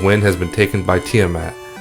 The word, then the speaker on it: Tiamat: has been taken by tiamat i often pronounce it tire map because that's how i used to say it as a 9 year old kid so if i slip